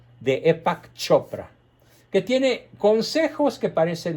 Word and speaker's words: Deepak Chopra: extremadamente famoso de epa que se escribe de pax se pronuncia deepak chopra que tiene consejos que